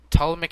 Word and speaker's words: Ptolemaic: Ptolemaic Empire, you don't pronounce the T.